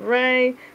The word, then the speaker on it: Rai: Some collectors pronounce it Ray. Some say Raw, like Samurai. But I say Ray. I believe that's what it is, Ray.